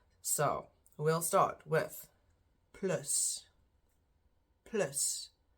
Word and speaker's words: plus: we'll start with Plus Plus which is how we pronounce it in Afrikaans spelled the same just the pronunciation is different then minus meanness same